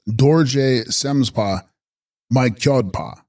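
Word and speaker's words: Dorje Sems-dpa Mi-bskyod-pa: Dorje Semsdpa Mikbskodpa, pronounced Dorje Semspa Mykyodpa, Sanskrit Vajrasattva Akshobhya.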